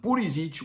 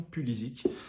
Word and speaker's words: Pulisic: Dites-moi en commentaire ce que vous pensez d'une potentielle arrivée de Christian Pulisic ou Pulisic. Pour les autres, ouais, c'est un nom croate. Il a dit qu'on pouvait prononcer son nom des deux façons.